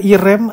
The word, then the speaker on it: Irem: kebingungan di masyarakat lalu diganti dengan nama irem ya irem irem pokoknya gitulah cara bacanya Ya International rental electronic